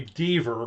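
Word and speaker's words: Deaver: by the way this Jeffrey dver rhymes with beaver I watched that that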